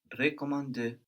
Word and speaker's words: recommander: Recommander. Good, but also the first E is more like je in this case.